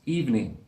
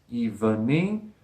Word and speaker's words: evening: evening but it's pronounced evening two syllables not three the schwa sound in the middle is dropped even mean doesn't sound right to